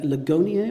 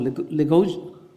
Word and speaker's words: Ligonier: selection of text that I've drawn from the Ligonier, or Ligonier, am I pronouncing that right? Ligonier website, yeah.